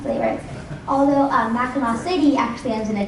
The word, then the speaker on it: Mackinac: Why, if the island is spelled with a C on the end, is it pronounced as if there were a U on the end?